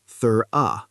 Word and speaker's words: thorough: For example, a student knows the word thorough, but doesn't know it's pronounced thur-uh.